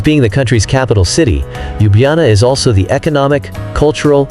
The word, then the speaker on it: Ljubljana: Slovenia's capital city of Ljubljana, pronounced Ljubljana, is located right in the middle of the country, with only 280,000 inhabitants and a relatively small old city center.